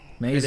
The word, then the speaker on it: Maisie: I think it's Maisie. Sure. Maisie. It is, That's how you yes. pronounce it.